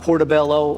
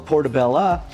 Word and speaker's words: portabella: Now, when I talk about portabello or portabella, the pronunciation has kind of been back and forth for years. However, now the standard is if it's a smaller one, it is a portabella.